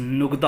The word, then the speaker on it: नुगदा: अगर इसकी असल प्रोनाउंसिएशन की जाए, असल अल्फाज बोला जाए तो लफ्ज़ नुगदा होता है, लेकिन हम पंजाबी में लुगदा ही बोलते हैं।